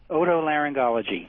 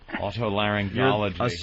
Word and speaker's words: otolaryngology: How do you pronounce that very long word? Otolaryngology. That's what I thought. All right. Otolaryngology.